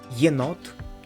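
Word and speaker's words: єнот: But for now, you should remember that it's yeah, and it can be pronounced like yeah in the word yenot, which means raccoon, or a in the word синє, which means blue.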